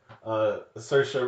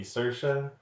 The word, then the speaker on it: Saoirse: correctly even the famous Saoirse Ronan like she's always pranking people out of France her name but it's like it rhymes with inertia so to be Saoirse I guess yeah but